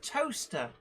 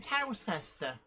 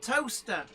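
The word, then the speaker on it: Towcester: very very intrigued by a place that was often mentioned on the travel news on the radio as toaster but i never saw it on road signs meanwhile that i i was wondering um why nobody ever mentioned towel sister in the same place it's called toaster yep so oh really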